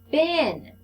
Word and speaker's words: been: Bin. Everyone say bin. All right, let's arm spell it. Remember, we say it, spell it, say it. Bin. B-E-E-N. Bin.